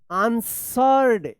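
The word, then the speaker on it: answered: अ few minutes and आंसर्ड यहां पे डब्ल्यू जो है ना साइलेंट है आंसर्ड आंसर में ई डी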